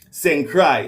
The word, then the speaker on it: St. Croix: It's spelled with an X at the end, but just like my name is spelled different, but pronounced St. Croix, like what I mean, like your heart a cry, you know what I mean, like tears are run down your eye, St.